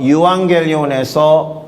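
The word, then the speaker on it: εὐαγγέλιον: 수 있게 될 테니까요 어떤 단어면 유한겔리온이라고 발음되는 그런 단어입니다이 단어에서 유앙겔리온 이젤 이즘 이리스트 같은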